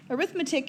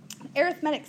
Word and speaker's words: arithmetic: does but it's actually arithmetic is what a noun an arithmetic is an adjective and so they're actually pronounced differently isn't that cool arithmetic sequence okay an arithmetic